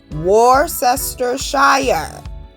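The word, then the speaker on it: Worcestershire: Warcester Shire. Warester Shshire. That's how you pronounce it.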